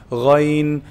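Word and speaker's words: غين: So ghayn is pronounced from the top part, the highest part of the throat, the closest to the mouth. Ghayn, al, ghayn, ghayn, ghayril maghdubi alayhim.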